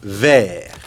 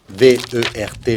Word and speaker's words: vert: Alors qu'au masculin singulier, comme le T, c'est la dernière lettre, on ne prononce pas la dernière consonne. On prononce jusqu'au R.